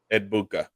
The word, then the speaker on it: Egbuka: And how do you pronounce it? Mbuka? Emeka Egbuka. Egbuka.